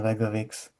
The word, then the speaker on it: Vagovics: I'm also on Spotify, Vegovic, YouTube, Vegovic.